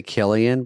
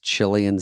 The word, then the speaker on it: Cillian: They say Killian, but the real name is Cillian Seabass.